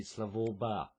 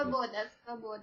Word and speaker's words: Svoboda: leader of the neo-Nazi Slavoba party. I may have pronounced that incorrectly. Svoboda.